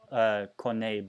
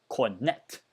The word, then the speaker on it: Cornet: Ooh, seems like there's an injury here for, I mean, I know in French it's Cornet, but just because it's spelled in a way, it's Cornet.